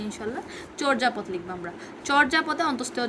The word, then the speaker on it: চর্যাপদ: চর্যাপদ লিখবো আমরা। চর্যাপদে অন্তস্থীয় জ আছে, আমরা জানি আমরা বর্গীয় জ, অন্তস্থীয় জর ক্ষেত্রে সবসময় অন্তস্থীয় জয়ের স্থলে বর্গীয় জকে সিলেক্ট করব। তাহলে চর্যাপদ, এটা আসলে চর্যাপদ, চোর যা পদ, এভাবে।